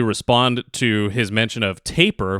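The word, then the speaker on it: Tapir!: To actually respond to his mention of Tapir, which is how that artist's name is pronounced, I actually discovered them not long ago.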